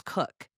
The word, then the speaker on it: Cook: Well, I grew up with a very simple last name, but people still mispronounced it. My last name was Cook. How? Cook.